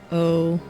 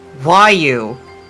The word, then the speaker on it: Raoille: Go ahead and pronounce it for me. Raolle. Raoille. Raoi. Raoul? Raoul? Raoul? It's pronounced Wyu.